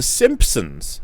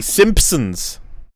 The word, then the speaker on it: Simpsons: And they were like, nope, we don't pronounce the P. Simpsons.